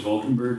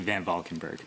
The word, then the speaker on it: VanValkenburgh: Valkenburg, you have 2 minutes. Hey everybody, I know it's a hard name to pronounce, but it's actually VanValkenburgh.